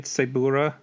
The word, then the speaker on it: Tsuburaya: Tsuburaya.